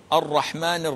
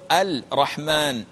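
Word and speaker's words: الرحمن: al Rahman al Rahim the L is not pronounced and you cannot pronounce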